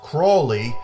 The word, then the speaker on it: Crowley: of alist Crowley and his family name may be pronounced Crawley but I say Crowley as Azie Osborne did in his song to keep this film